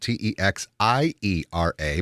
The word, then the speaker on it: Texiera: That's spelled t e x i e r a but pronounced texiera.